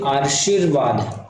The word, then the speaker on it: आशीर्वाद: शब्द का चयन कीजिए आशीर्वाद आशीर्वाद देखिए मैं क्या बोलर आशीर्वाद पहले श बाद में र आ रहा है क्योंकि र यहां पहले इसलिए श का उच्चारण पहले बाद में होगा र पहले हो जाते